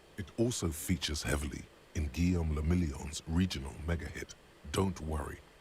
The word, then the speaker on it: Guillaume le Million: Guillaume le Million フランス語 If it doesn't rhyme, you're not pronouncing it right.